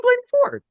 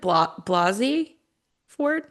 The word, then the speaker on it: Blasey Ford: It's Christine Blaney Ford. Isn't it Blasey Ford Oh, with the that's not the S?